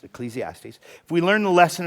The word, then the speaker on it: Ecclesiastes: I promise I promise if we will learn the lesson of Ecclesiastes, that's the way that's pronounced. Ecclesiastes.